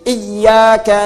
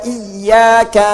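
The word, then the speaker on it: إياك: Bacaan pakai tasydid. Iyaka na'budu wa iyyaka nasta'. Terus Anda beda sendiri.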